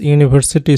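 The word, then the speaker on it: university: হি ইজ ইউনিভার্সিটি student, ইউনির উচ্চারণ ইউ এর মতো উচ্চারণ হলে আর্টিকেল এ বসে।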